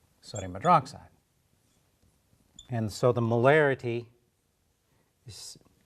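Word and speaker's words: molarity: similar spelling all right so it's not morality it's marity um and that is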